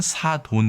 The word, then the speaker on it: 사돈: ' 사둔 ' 에서 유래 했기 때문 에 개인 적 으로 는 ' 사둔 ' 이 더 정확 하다 고 생각 하지만 , 어쨌든 한국 에서 는 ' 사돈 ' 을 표기 와 표준 발음 으로 지정 했습니다 .